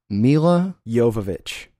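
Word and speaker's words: Milla Jovovich: It's Mila Jovovich. Mila Jovovich.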